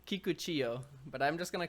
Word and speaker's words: Kikuchiyo: Kikuchiyo, but I'm just gonna call him Kikuchi. Kiku because I'm not Kiku. gonna mispronounce it, That's and fair.